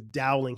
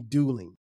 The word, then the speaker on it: Dowling: for for whatever reason my last name is Dowling he would call me dueling every day um and I just